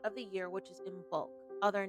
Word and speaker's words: Imbolc: Imbolc can also be pronounced as Imbolc, which translates to in the belly of the mother.